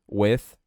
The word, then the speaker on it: with: With me. O TH tem som de... Basicamente, você só vai soltar o ar. With. E vai colocar a língua entre os dentes.